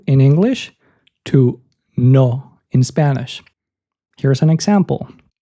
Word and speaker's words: no: in Spanish is to imagine there's an H after the letter O. So it goes from no in English to no in Spanish.